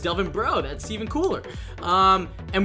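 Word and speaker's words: Delvin Breaux: kept on pronouncing him Delvin BR I didn't know how to pronounce the X apparently it's just Delvin bro that's even cooler um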